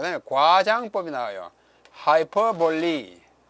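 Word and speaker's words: hyperbole: 하이퍼볼리. 하이퍼볼이라고 읽지 않고 하이퍼볼리라고 읽습니다. 그게 영어예요.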